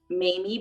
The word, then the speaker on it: Mammy: On the show, they called her Aunt Mamie, but it's spelled Mammy.